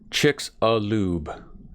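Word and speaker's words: Chicxulub: i'm sorry i got i was corrected it's chicks a lube chick salute chick's a lube i'll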